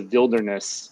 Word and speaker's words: VV Wilderness: It's a Wilderness, I don't know if it's like literally two V's, if you pronounce it Wilderness at that point, I don't really know, but it's VV Wilderness. It's not spelled like, you know, Wilderness would be in English.